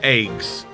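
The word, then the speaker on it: AGWS: eggs yes that is how it's pronounced it's pronounced eggs uh in this battle it's possible to pilot an eggs by selecting eggs in the submenu first select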